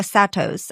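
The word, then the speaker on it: Saros: it's called a oh a satoss I think that's how you say it. Satos cycle.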